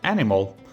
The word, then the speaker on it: animal: You can really hear the A there, animal. So it's not an A as in English, it's A, so animal.